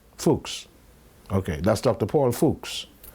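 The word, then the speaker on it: Fuchs: problems my spiritual advisor that's German how do you pronounce that fols okay fuks okay that's Dr Paul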